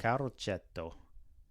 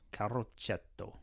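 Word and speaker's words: Carroceto: Is that how you pronounce it? Caretto. Caroto. C A R R O C E T O. Caroto.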